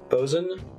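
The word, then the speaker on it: boatswain: before but never said it out loud what bozen v-o-a-t s-w-a-i-n what the does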